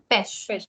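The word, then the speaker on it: pêche: one but that's okay you can just pronounce this with a short sound what is this yes just me you were right it's called pesh pesh is a word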